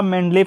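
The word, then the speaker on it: Mendeleev: ठीक है, सही उच्चारण आपका मेंडलीव है कि सन 1869 में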